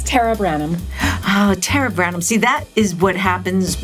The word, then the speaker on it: Tara Branham: say it i didn't tara tell everyone your full name oh actually my first name is pronounced tara oh sorry that's okay but it's tara branham oh tara branham see that is what